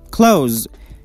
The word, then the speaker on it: close: close the pronunciation is close which means near as a verb it is pronounced like close with z sound close it means to shut